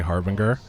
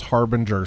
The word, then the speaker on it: harbinger: the number of people when i say harvinger and they're like you need to learn how to pronounce harbinger sir it's so funny